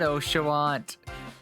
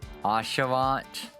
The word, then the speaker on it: Asha: something like that also I know it's not OSHA somebody harped on us Asha welcome aboard once you